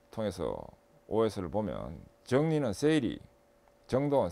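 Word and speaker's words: 整理: 일본에서 생겼기 때문에 OS로 발음되는데, 일본 발음을 통해서 OS를 보면 정리는 세이리, 정돈, 세이돈, 청소, 세이소, 청결, 세이게츠, 그 다음에 습관화, 시적게 해서 5가지 OS 이렇게 됩니다.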